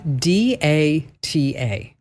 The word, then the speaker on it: data: is a tough one I think this is another one where it's really your preference I think I'm a a a data person I'm a data person too but some but but people tell me I should say do or D A like da da that's no I I see data but dat or data data not data I'll except either I